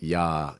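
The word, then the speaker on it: Я: And so yeah, there are all these kind of like different things at play, and but the title itself is actually pronounced "ya."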